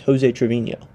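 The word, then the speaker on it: José Treviño: It's kind of embarrassing because his real name is Joseé Trovinho. So mistake myself. It's Joseé Trevinho.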